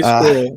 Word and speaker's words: squirrel: It's kind of a 2-syllable.